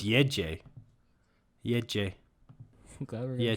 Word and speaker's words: Gece: it's Yeje. Yeje. I'm glad we're gonna try Gece. to pronounce these.